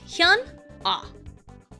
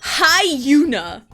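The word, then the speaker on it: HyunA: Okay, so Hana is spelled h Y u N A. So it's Han ah Hana.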